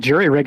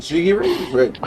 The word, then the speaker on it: jury rig: Wait, you have jig jiggy rig? How do you say that? Jury rig. Jiggy rig. Jury rig. Jury. All right. Thank you. I keep saying jiggy.